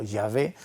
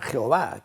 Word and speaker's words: Yahvé: da a un tetragrama de YHWY, entonces se pronunciaría como Yahvé, que será el que vamos a conocer después, aunque las Biblias cristianas, pero que son evangélicas, le llaman Jehová, que es una mala traducción también que los